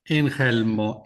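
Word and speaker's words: Ingelmo: Is it Ingalmo or how do you like to pronounce it? Inhelmo. Inhelmo. That's a probably a a funny Spanish pronunciation of probably a northern European uh name, you know.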